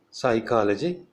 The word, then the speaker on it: psychology: In PS, P is silent, as in psychology, pseudo, psychopath, a person suffering from emotional derangement.